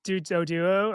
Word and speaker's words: Doduo: Doduo? Doduo. Doduo?